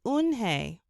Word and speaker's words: Unhei: turning around it was joey your name is unhi he asked her with his eyes wide open unhei looked quickly at mr kim then turned to joey she nodded slowly yes it's pronounced unhei and it means grace mr kim added joey